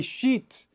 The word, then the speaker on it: sheet: Tip number 3, try to say sheet and shit by exaggerating the vowel sound. So sheet is very long and shit is very short.